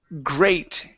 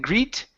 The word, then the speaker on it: great: Next up is the word great. Here, instead of saying greet, okay, it's a long A sound.